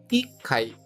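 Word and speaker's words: 一階: eai com atenção pois apesar do número um ser de modo geral e t neste caso específico a sílaba ti é retirada e colocado o TS que é aquele T pequeno indicando uma pausa rápida antes do Kai ficando Iai para segundo andar mais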